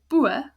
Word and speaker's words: boome: So the boe ends on an open syllable because it ends on a vowel, like rule number 1. And that's why it's a long sound, boe.